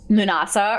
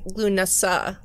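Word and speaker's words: Lughnasadh: Munasa or Lammas. So everyone is starting to reap the rewards. I learned that it's actually pronounced Lunasa. Lunasa. Lunasa? Lunasa. Oh, okay. The emphasis is on the third.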